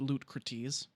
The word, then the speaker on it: Lootcrates: loot crates uh sorry look lootcrates it's pronounced loot cretes uh is the uh